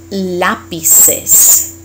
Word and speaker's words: lápices: Unos lápices. And again, you created a new syllable, so you gotta pronounce it.